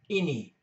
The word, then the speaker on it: ini: I is pronounced the same as in English, I, ini, ini, which means this.